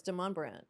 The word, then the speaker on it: Demonbreun: was like, "How in the world do we pronounce this street name?" But then somebody said it and they go, "Oh, it's Demonbreun." I say Demonbreun.